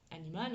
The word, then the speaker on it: animal: Par contre, à l'oral, ça va se dire animal, animal. L'accentuation, l'accent tonique est sur ma première syllabe, animal.